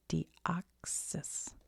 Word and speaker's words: Deoxys: How to say it? Deoxysus. Deoxys.